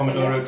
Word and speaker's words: Pomodoro: That is correct, the That's Pomodoro Technique.